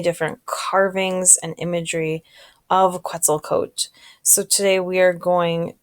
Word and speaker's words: Quetzalcoatl: I know there's an L at the end, but when I looked up how to pronounce it, it's Quetzalcoatl.